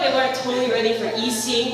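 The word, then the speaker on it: Yxin: weren't totally ready for e-sing which is spelled y x i n and people are always like Jackson Asian anyways so I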